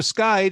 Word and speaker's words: SKYD: translates so you can like exactly exactly so skyed is in fact a portmanteau it's a combination